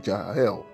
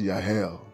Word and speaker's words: Jahel: us understand that the spirit of Jahel, actually pronounced Yahel, that the spirit of Yahel shall begin to prevail in the church of God.